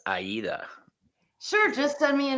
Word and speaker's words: Aida: Um, and just to let everybody know, it's not Ada, it's Aida.